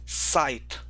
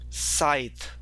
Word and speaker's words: scythe: So if you will go and you will click on this word here, it pronounces it as scythe, scythe.